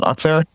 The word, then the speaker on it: Akhtar: first name dot last name, so it's Akhtar. Or you can get me on X, which is _NUA. So is spelled.